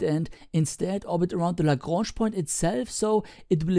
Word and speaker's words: Lagrange: Just by the way, I recently learned that the guy who this point is named after was actually Italian, so maybe a more correct pronunciation would be Lagrangia.